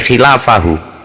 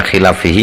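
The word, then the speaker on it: خلافه: nyebut sabab terus terangi khilafahu. Kalau dibaca khilafihi ya enggak apa-apa nanti, tapi kurang tepat kayaknya dibacanya.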